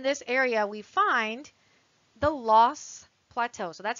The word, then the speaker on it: Loess: Also in this area, we find the Loess Plateau. So that's how you pronounce that word, L-O-E-S-S, Loess Plateau.